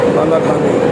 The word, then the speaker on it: Balaxani: It is pronounced as Balaxani.